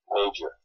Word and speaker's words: major: Okay, majors with the stress on the first verb.